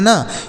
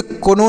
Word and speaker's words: know: Next है KNOW तो इन दोनों को क्या पढ़ेंगे, तो KNOW इसे नो पढ़ेंगे, इसे कोनो नहीं नो पढ़ा जाएगा, तो इसे भी तो नो पढ़ते हैं, तो इन दोनों को नो पढ़ेंगे।